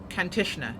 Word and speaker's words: Kantishna: course it's looking good now do i always pronounce this one incorrectly that's the question it's kantishner yes i was correct now continue has a